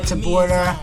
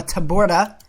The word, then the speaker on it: Taborda: welcome back in football weekly with to B our second episode wow I just mispronounced my name that's that's a little embarrassing Tabora episode two you know okay that's embarrassing guys